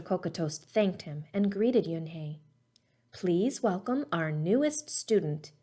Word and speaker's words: Unhei: it's spelt u n h e i it's pronounced yunhei oh it's you hey the boy said like you hey what about